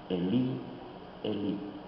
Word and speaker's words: Elí: La diferencia de pronunciación lo encontramos porque Mateo cita las palabras en hebreo, Elí, Elí, y Marcos cita las palabras en arameo, Eloí, Eloí.